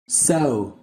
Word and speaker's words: sew: Còn cái phát âm của từ vựng này á là sew, sew. Thì các bạn nghe nó giống giống như là cái con sâu trong tiếng Việt của mình không?